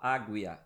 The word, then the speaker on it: águia: Águia, eu não falo águia, eu falo águia. Então esse U também não está sendo pronunciado.